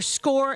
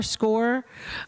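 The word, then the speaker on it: Scoir: We're going to go over score in a little bit. That's how we think we pronounce it. S c o i r score.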